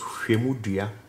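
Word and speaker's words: Hwemudua: So it's a unique pronunciation in Akan that you're gonna see. So this is Hwemudia, and literally means measuring stick.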